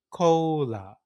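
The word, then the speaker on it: コーラ: So in pronunciation, it's called cola, cola, cola, just like that.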